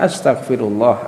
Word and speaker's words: astaghfirullah: Adapun cara membacanya sebagaimana dikatakan oleh Al-Imam Al-Auza'i, cara membacanya adalah dengan membaca astaghfirullah, astaghfirullah, seperti itu.